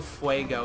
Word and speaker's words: fuego: I have the headstone quest one where you hear Johnny Depp saying Padres del Fuego, so I know it's pronounced Fuego.